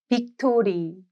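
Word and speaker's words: 빅토리: V is written as B, B. B, because the pronunciation is similar. Try pronouncing the English word victory and then say it as Biktori.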